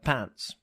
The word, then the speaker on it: pants: It seemed funny to my guests because article in Latvian is spelled just like pants.